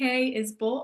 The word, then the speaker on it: Isbell: I'm is Bull Art. My last name is not spelled the way it's pronounced. It's I SB L.